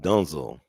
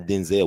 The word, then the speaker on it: Denzel: His mama says it's pronounced Dunzel, not Denzel. We've been saying it wrong.